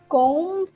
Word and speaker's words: comb: very common very easy comb comb yeah so you don't have to pronounce b yeah okay now tell